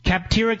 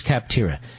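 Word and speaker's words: Capterra: CIP ter RA just check it out phonetically kaptara comm slash levin le VI and check it out today join the millions of people who use cap tira that's cap tira CIP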